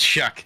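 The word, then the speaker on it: Shough: It's Shuck. It's pronounced Shuck.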